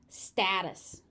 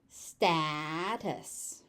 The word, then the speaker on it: status: Status. Status. Status. And that T in the middle is just a flap T.